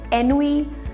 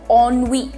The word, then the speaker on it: ennui: इसको आप कैसे प्रोनाउंस करेंगे, एनुई या any other way, NUE etcetera? No, the pronunciation is a little different. तो इसका प्रोनाउंसिएशन होता है ONNUI.